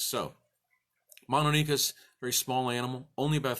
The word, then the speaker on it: Mononykus: learned it as mono dicus I've heard it pronounced Monachus so we're gonna go with mono NICUs cuz